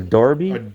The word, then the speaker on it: Derby: a this is a darby it's it's spelled derby but it's pronounced darby oh wow look at